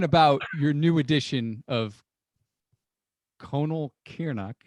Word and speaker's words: Conall Cearnach: your new edition of conal kiernach we how's that for pronunciation no i think that's right all right one of many legitimate variations so colonel kearney's the